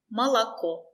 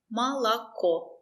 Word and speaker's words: молоко: Молоко. The stress is on Ko. Молоко. Ma is not stressed. La is not stressed. We pronounce the letter O as A. Молоко.